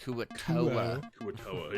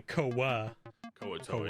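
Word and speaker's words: Kuo-toa: got to be honest you put more American accent on it Kua K TOA yeah say ka ka TOA yeah that's me totally like thinking the a where swapping a is an O 100% but yeah so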